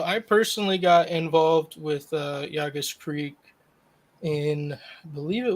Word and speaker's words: Llagas: And I said it right, didn't I? Llagas. Say it right. Llagas. Wonderful. I finally didn't butcher something. Yeah, Spanish pronunciation.